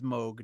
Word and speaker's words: Moog: decide if it was Moog or Moog I think it's I think it's Moog all right we'll say Moog yeah I've been uh every every 20 years or so I Chang the way I'm pronouncing it I feel confident it is mogue now well it um